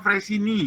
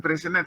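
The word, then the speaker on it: Freyssinet: Bacanya Freysini ya, bukan Freysenet sebetulnya. Freysini bacanya, tapi tulisannya Freysenet. Nah, seperti ini kan Prancis ya, seperti mobil Peugeot loh. Bacanya Peso ya. Jadi T-nya enggak kedengaran. Ini juga gitu Freysenet, Freysini. Jadi T-nya enggak kelihatan.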